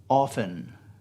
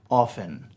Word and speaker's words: often: um the word is often often the t is silent it is not often